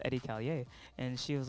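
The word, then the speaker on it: Edi Callier: was like oh yeah so it's pronounced eddie callier and she was like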